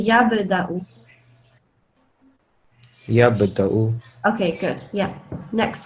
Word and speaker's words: يبدأ: So you say it with a jumping sound. Can you try again? يبدأ. Good. Yeah. Well done. Yeah. Say it like a little bit more. Make it more. What is it called? Make it more obvious, sort of, to say yab.